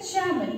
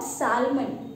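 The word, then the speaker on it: salmon: Now we have the first word, Shaman. What is there? Shaman. The spelling it is there S-A-L-M-O-N. Though we pronounce it Shaman, not Shalman.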